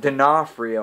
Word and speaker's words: D'Onofrio: And this movie is starring Chris Pratt, Bryce Dallas Howard, Vincent D'Onofrio. I think I finally learned how to pronounce his last name.